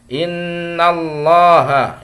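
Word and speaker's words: إن الله: bertasydid dibaca gunnah ya Innallaha itu tafkhim ya Allah dibaca lafaz Allah dibaca tafkhim tebal Kenapa karena sebelum lafaz Allah harakatnya fathah ya jadi maka dibacanya tebal Bukan innallah tapi innallah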